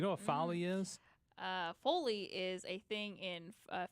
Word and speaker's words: foley: know if it's cell to say no is foley how do you spell that f-o-l-e-y yes okay no this is folly